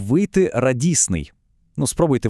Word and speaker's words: радісний: Теоретично мало б вийти радісний. Ну, спробуйте вимовити, незручно, правда? Тому звук т просто зникає, і ми отримуємо легке, плавне і красиве слово радісний.